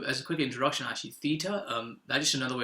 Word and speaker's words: theta: to go you tend to just go to theta which is kind of it looks like that